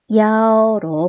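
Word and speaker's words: 幺: 그랬을 때 분별하기 위해 가지고 숫자 1은 야오로 발음을 해 가지고 대답을 하면 됩니다.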